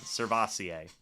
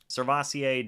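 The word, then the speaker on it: SirVocea: on now surface say got it is the pronunciation cervasier cool cervasier Dennis can they stop drafting quarterbacks please who's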